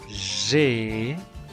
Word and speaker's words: j'ai: J'ai. Recordemos que la A y la I suenan E y la J suena G. Por esa razón, la pronunciación de la conjugación es j'ai.